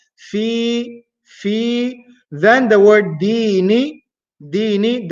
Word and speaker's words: دين: Then the word dini, dini, the first letter we have dal. Dal is pronounced using the top tip of the tongue.